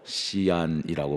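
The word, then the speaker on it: 西安: 하나인 서안이라는 도시가 있습니다 중국어로 시안이라고 발음을 합니다 중국 서쪽에 가장 중요한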